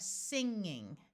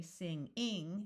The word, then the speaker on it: singing: So here we have singing. Notice the first syllable is accented because most suffixes in English do not get accented. So we don't say sing-ing, it's singing, acting, inning, pinning, winning.